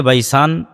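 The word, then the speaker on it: Baysan: Hebrew এবং আরবি উচ্চারণের পার্থক্যের কারণে তারা উচ্চারণ করে বাইত শিয়ান, যেটা আরবিতে এসেছে বাইসান, সেটাই হিব্রুতে বাইত শিয়ান।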